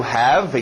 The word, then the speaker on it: have: To have, engole o V.